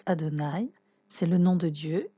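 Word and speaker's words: אֲדֹנָי: adonaï qui le tétragramme c'est ça s'écrit your dream avait ça se prononce adonaï c'est le nom de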